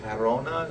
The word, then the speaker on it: Gerona: I think Gerona is pronounced Herona.